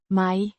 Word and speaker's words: mig: pronounced my similar to the English word my it is the object